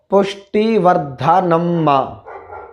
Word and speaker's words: पुष्टिवर्धनम्: अंत में आता है पुष्टिवर्धनम्मा, पुष्टिवर्धनम्मा। तो वहाँ देखिए शा मूर्धन्य शकार टा से जुड़ा है, मूर्धन्य शकार आधा है और टा पूरा है, तो उसी परिस्थिति में इसका उच्चारण शा हुआ है।